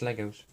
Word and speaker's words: Lego: Don't add the S. Stop. It's Legos. It's Lego." And I'm like, yeah. I would be fine with someone saying either way. I think the pronunciation of Lego is not something to get too flustered over, in my opinion.